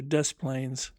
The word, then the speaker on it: Desplaines: Note, Rivier Oplain was the original French designation, now changed to Desplaines, pronounced as in English.